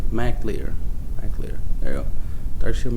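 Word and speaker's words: Mac Lir: Dark Shield Mark Lear. Well, I'm saying it wrong. Dark Shield Mac Lear.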